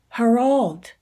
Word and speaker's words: Harold: Oh, Harold. He made it rhyme with dolled.